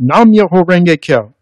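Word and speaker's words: Nam-myoho-renge-kyo: Each musical note shown here represents one beat or syllable. So the chant sounds like this. Nam-myoho Renge-kyo, Nam-myoho Renge-kyo, Nam-myoho Renge-kyo.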